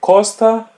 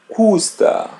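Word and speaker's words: custa: So don't say costa, say ka.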